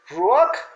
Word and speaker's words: ruach: Es la palabra hebrea ruach, termina con J, R-U-A-K de kilo, J, con acento en la U.